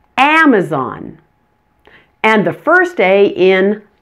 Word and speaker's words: Amazon: family understand perhaps practice the first a in Amazon and the first day